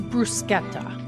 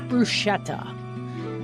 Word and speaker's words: bruschetta: But the correct way to say it, I'm glad I'm looking at it again. is brusqueta. Not bruschetta. That is not a thing. Brusqueta. Because this here, the ch in Italian ends up working